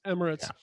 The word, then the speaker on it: Emirates: Emirates.